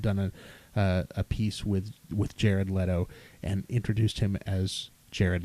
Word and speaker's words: Leto: So I did some research myself, and I found that when he won Best Supporting Actor for Dallas Buyers Club, they pronounced his name Jared Leto on there.